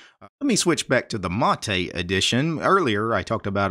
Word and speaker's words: MATE: actually an acronym it's m-a-t-e and it's pronounced mate the stress is on the first syllable and mate is actually